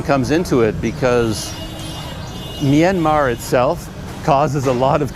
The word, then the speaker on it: Myanmar: Some people say Myanmar, some people say Myanmar, but in fact the R on the end is a silent R.